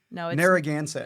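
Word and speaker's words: Narragansett: Narroaganset.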